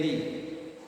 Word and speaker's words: Lea: Tulisannya Lea. Bacanya apa? Le ya. Lerry Lee.